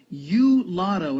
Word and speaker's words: YooLotto: co-founder of a lottery app called you lotto and it's spelled y-o-o Lotto after leaving his career